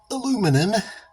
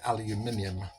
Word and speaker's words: aluminium: As you've probably seen in another video, like a brushed aluminum, as the Americans say, because they don't know how to say aluminium. But I'm not going to say aluminum, I'm going to say aluminium.